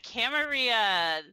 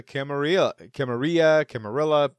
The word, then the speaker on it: Camarilla: be talking about the Camarilla. It's going to be potato here for this whole this episode. Well, I personally prefer the Spanish pronunciation with the double L equaling the Y sound there.